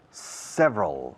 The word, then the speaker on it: several: There are several. Several es 3 sílabas oficialmente, pero 2 cuando hablamos.